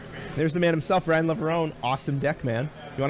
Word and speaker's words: Leverone: It is Leverone. You actually do pronounce the E, strangely enough.